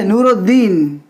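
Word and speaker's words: نورالدین: वैसे नूरुद्दीन, नूरुद्दीन, देखिए नूरुद्दीन, रे से डायरेक्ट हम दाल पे, दाल का प्रोनाउंस किए, दाल का तलफ़ुज़ किए, प्रोनाउंस किए, लेकिन अलीफ और लाम को हमने छोड़ दिया, साकिन कर दिया।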